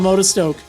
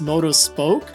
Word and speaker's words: Motostoke: sword and shield towns I always would call this moto spoke like the spoke of a tire or something like on